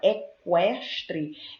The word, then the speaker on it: equestre: Quando eu pronuncio a palavra equestre, eu ouço o som do K e eu ouço o som do U. Cada um apresenta o seu som.